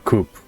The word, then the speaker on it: coup: good day for a coupe holy week you don't pronounce the p you don't it's just a coup you just say wait